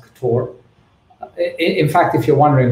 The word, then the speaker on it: Ktor: Welcome everyone to this talk on Ktor, otherwise pronounced Ktor.